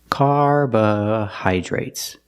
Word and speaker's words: carbohydrates: at the word carbohydrates carbohydrates some people say carbo carbohydrates some people say carba carbohydrates the Dr is pronounced with the J sound plus the r together carbohydrates it's a very